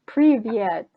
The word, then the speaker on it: привет: It's привет. Okay, Privyet.